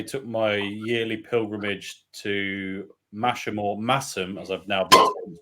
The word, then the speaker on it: Masham: I reckon somewhere not long after that, I took my yearly pilgrimage to Masham, as I've now been pronounced, in North Yorkshire, to visit Theakston and Black Sheep.